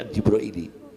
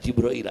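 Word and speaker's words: عن جبريل: Anjibraili bacanya anjibraili bukan Jibrail anjibraili.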